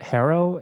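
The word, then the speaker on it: HARO: entrepreneurs using it call I think it's pronounced Harrow h a r o help a reporter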